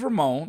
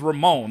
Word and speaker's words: Ramon: Raymond, you know, or put a e on the end of my name like no, my name is Ramon. I get it. I'm a black guy named Ramon, but my name is Ramon. Okay, it's spelled that way. Call my name that way.